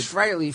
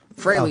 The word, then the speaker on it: Frehley: A lot of people Everyone pronounce says it Frehley, wrong. but it's Yeah. Frehley. I would have Ace said... Frehley freely admits that Frehley is the proper Oh, pronunciation.